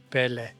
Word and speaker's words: Pelé: I'm not going to say pelle like Americans say, but I'm going to say pelle. Like I'm going to say pelle.